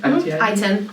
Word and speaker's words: ITIN: Hispanic population we discussed maybe itin is that how you say it I-10 I-10 I-10 and uh four Nationals